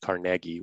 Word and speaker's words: Carnegie: You said Carnegie, which is everyone in Pittsburgh is going to be really happy about that.